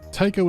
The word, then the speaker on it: Tycho: Tycho is here and actively devouring the other AI. Someone's after you personally. 1 word, 2 syllables, rhymes with psycho.